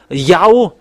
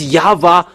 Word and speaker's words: Yahweh: How to pronounce this W? Is it Yahwa or Yahoo or Yava?